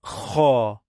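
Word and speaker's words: خ: And we have Kha, Kha. Again. A, Ra, Ha, Kha, Kha, Kha, Kha, Kha, Kha, Kha, Kha, Kha, Kha. A, Ra, Ha, Kha. This one is Kha, Kha. Try to snore.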